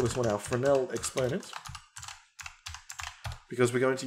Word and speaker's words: Fresnel: We'll call this one our Fresnel exponent, because we're going to use a Fresnel shader. So right click here, type in Fresnel. It's spelt Fresnel, but don't let it fool you.